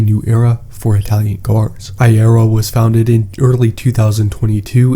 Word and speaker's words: Aehra: the correct pronunciation is eye error this name is derived from the Latin word for era incentivating that we are entering a new era for Italian car ayero was founded in early